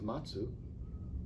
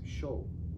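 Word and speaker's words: 松: And the reason is, so in Japanese you have onyomi and kunyomi, two pronunciations. One is matsu, which means pine. The other is sho.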